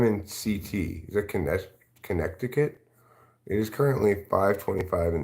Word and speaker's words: Connecticut: still believe in ranch it's Connecticut not Connecticut it's Connecticut you want me to pronounce a Connecticut I like to pronounce a Connecticut like I like to pronounce February you know I like to pronounce things how they're spelled are you going to